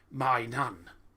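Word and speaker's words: Maignan: is my nun m-a-i-g-n-a-n it's actually pronounced my nun it's pronounced man i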